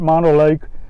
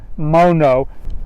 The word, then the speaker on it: Mono Lake: of mono lake and i thought it was pronounced mono like and i used and i called it monolith for a long time but then found out um you pronounce it mono and that makes sense because i thought mono